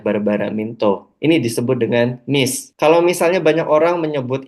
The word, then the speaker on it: MECE: Kalau misalnya banyak orang menyebut ini dengan misi atau mece, kayak gitu ya. Dalam salah satu interviewnya, Barbara Minto sebagai inventor dari prinsip berpikir logis dalam presentasi dan laporan di McKinsey, beliau menyebut cara pronounce-nya adalah MIS.